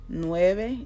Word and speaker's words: nueve: vibe so siete ocho nueve and you see how Nueve is not Nueve it's nueve which I kind of make myself say it with a B but like a soft B but if you if